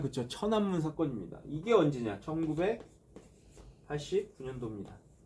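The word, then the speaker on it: 天安門: 잘해서 무슨 사건 남 최남 사건이라고 하죠 우리식 발음하면 그죠 천안문 사건입니다 이게 언제냐 19 89년도 중국의 프라의 봄이죠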